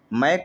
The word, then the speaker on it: Mach: मैक संख्या का, जिसे मैक नंबर, मैक को स्पेलिंग है MACH बोलते हैं, जहाँ S साइलेंट होता है, मैक नंबर आता है।